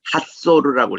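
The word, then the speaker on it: חצור: 이게 가는 곳이 저 가이사라 빌립보로 가는 길목에 있는데 이 하설은 꼭 아셔야 됩니다. 이거를 현지 발음 그대로 읽으면 핫소르라고 읽어요.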